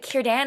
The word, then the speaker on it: Círdan: I even know that Círdan is pronounced with a K sound.